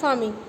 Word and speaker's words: pharming: फार्मिंग pronounced as फार्मिंग. जैसे आप FARMING वाला फार्मिंग प्रोनाउंस करते हैं, वैसे PHARMING वाला फार्मिंग को प्रोनाउंस करेंगे.